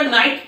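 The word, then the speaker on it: knight: हम लोग नाइट का वर्ड मतलब NIGHT नाइट मतलब रात समझते, लेकिन नहीं, ये है आपका नाइट की NIGHT, सेम प्रोनाउंसिएशन है इसका, लेकिन इसको कहा क्या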